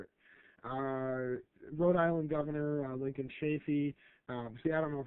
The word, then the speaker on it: Chafee: Rhode Island Governor Lincoln Chafee. See, I don't know if his last name is pronounced Chafee.